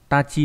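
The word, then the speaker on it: 達: đúng không đạt này đọc là gì nhỉ đọc là tachi hồi tát giữa từ tomodachi em có Moda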